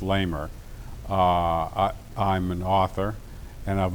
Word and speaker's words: Leamer: Laurence Leamer, L-A-U-R-E-N-C, Leamer, L-E-A-M-E-R, pronounced Lamer.